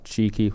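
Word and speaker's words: Txiki: you've got pep and cheeki is how you say his name tixie tixie yeah whatever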